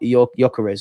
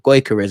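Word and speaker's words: Gyökeres: Odigard has spoken about Yokarez or Goyarez as I think is the right way to pronounce it.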